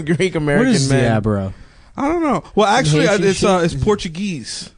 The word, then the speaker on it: DeAbreu: how do you say it? DaBrow? DeAbreu. DeAbreu.